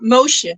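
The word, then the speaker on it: Moosje: Um Moosha it is.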